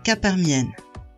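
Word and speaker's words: k parmi n: est appelé coefficient binomial et se prononce cas par mienne la formule dit que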